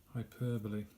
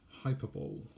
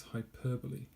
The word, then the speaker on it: hyperbole: better or worse that it really is now pronunciation is this hyperbole hyperbole phonetics and this is roughly what it looks like in Norman alphabet hyperbole hyperbole what it isn't is hyperbole it's not hyperbole all right it's hyperbole okay